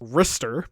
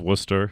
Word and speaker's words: Ristar: Though one oddity is that Sega Power has it clearly stated that the game should be pronounced Ristar, which I think is just wrong. It's pronounced Worcester.